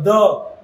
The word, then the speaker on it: the: will pronounce it as D. If it is starting with a spoken consonant, we will pronounce it as a the.